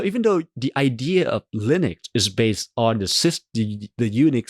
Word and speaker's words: Linux: the system, source code, Linus actually included the audio guide of how to pronounce Linux. Because he knows people are going to pronounce it maybe Linux.